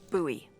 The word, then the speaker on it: Bowie: no warning he pulls out this huge Rusty Bowie knife it's actually pronounced buoy what no it's like the last name like